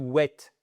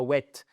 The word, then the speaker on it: wait: C'est pas to wait, c'est pas wet. Wet, c'est ça.